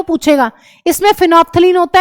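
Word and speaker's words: phenolphthalein: फिनोफ्थलीन L silent होता है।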